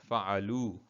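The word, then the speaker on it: فعلوا: The alif after the waw is silent.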